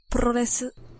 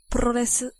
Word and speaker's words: Puroresu: I mean, I asked the computer over here how to pronounce the word, but listen. Puroresu. You hear that? Puroresu.